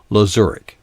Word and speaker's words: Lazurek: Lazurek.